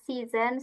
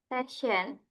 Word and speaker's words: season: And then hati-hati ini pengucapannya emang agak mirip ya sama season sama session.